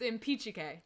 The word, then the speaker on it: Impicciche: It's Impicciche. Impicciche. Impicciche. Like impeach, kike.